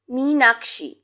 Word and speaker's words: মীনাক্ষী: তো মীনাক্ষী বানানটা সেটা মিন, আর আমার যেটা spelling that is প্রোনাউন্সিয়েশনটা different, that is মীনাক্ষী, একটু স্ট্রেস থাকে ডাবল ই বলে, তাই দীর্ঘই হয়, ঠিক আছে?